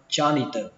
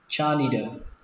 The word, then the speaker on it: janitor: Lao công đọc là cha ni tờ, âm chờ này là âm chờ rung các bạn nhé, âm chờ rung trong cổ họng, đọc là janitor janitor janitor. Cách đọc thứ hai các bạn có thể đọc âm này thành âm đờ, janitor janitor. Cách đọc thứ ba các bạn đọc thành âm thờ, janitor janitor.